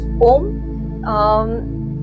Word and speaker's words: ओम: सबसे पहले ओम 3 ध्वनियों से बना हुआ है, वो है अ, उ, म। इन तीनों को कनेक्ट करेंगे तो ओम का उच्चारण होता है।